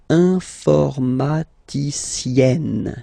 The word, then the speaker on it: informaticienne: And you get the sound informaticienne. Sienne. Remember, E and then double N, or then it could be double L or double consonant here. You open your E, so it's E. Informaticienne.